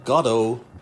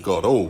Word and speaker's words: Godot: Universal Godot Virtual Reality. Godot. That's right, Ed. Godot, not Godot, Godot.